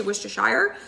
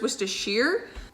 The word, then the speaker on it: Worcestershire: i said that correctly a couple of you guys have commented on how i pronounce wish dish because i think i used to say wish to shire but i'm pretty sure it's worcestershire is actually made with